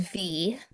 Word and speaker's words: Vi: should have mentioned um is V like the letter V. Uh and it's spelled VI and you know that's the Latin root for life in Latin based languages.